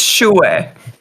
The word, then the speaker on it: shouer: say it sounds good tell me how to say it it's shouer all right so I